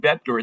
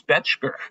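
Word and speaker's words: Bettger: For all the time I've been promoting that book, I finally found out that an old timer said, "Gilbert, his name isn't Betger, it's Betchker."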